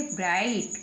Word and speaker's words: bright: ऐसे ही लिखा हुआ BRIG और H, G और H को नहीं बोलेंगे, केवल बोलेंगे BRIGHT। तो G और H को छुपा देंगे, ब्राइट, क्या बन गया, ब्राइट, क्या बन गया, ब्राइट ना।